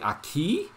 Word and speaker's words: aki: we showed where moonbora says something like akiba and the word is actually it was actually aki aki not a key like in spanish but like ah but he he bit off